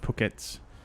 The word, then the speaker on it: Phuket: I've been to uh Phuket several times absolutely stunning place by the way it's pronounced pockets okay gotcha yeah it's